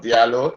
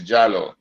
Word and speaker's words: Diallo: So, I always say Diallo, but I was told Diallo, but I was told the pronunciation is not Diallo, it's Jallo. It's Jallo, right?